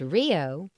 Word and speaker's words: RHIO: regional health information organization RHIO pronounced Rio is a multi-stakeholder organization